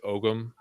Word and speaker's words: Ogham: is similar to Irish Ogham. In Ireland, they call it Ogham. In America, we pronounce the G.